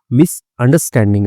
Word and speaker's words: misunderstanding: बोल रहे हैं तो वो लोग आर को खा जाते हैं साइलेंट रखते हैं तो मिसअंडरस्टैंडिंग इसको पढ़ा जाता है और जो यूएस वाले हैं यानी कि ट्रंप दादा ठीक है तो अमेरिका वाले जो है वह आर को रखते हैं तो वह मिसअंडरस्टैंडिंग पढ़ते हैं इसको।